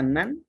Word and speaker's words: None: Y el último tipo que vamos a ver es un tipo especial que se pronuncia nan y se escribe none, ¿ya?